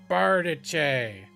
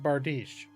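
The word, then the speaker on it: bardiche: going to say something and i was like bartiche they're like oh how cute he mispronounced bardish and ever since then i called the bartiche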